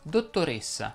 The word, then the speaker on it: dottoressa: parola fa eccezione cresima anche le desinenze in essa richiedono una pronuncia chiusa si dice stessa lessa leonessa dottoressa baronessa contessa e così via a proposito si dice